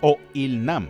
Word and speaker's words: Oh Il-nam: que es el jefe o IL namam tiene una pronunciación parecida al inglés de old IL Man que significa hombre